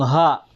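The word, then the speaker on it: ح: ito, yung ha, ay dito kinukuha yung hangin sa sa lalamunan.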